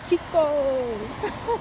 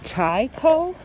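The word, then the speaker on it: ChiKo: Hey, Chico! Arrived. Let's go get them their Chinese food. We have hungry tummies to feed. I guess they pronounce it Chai-ko.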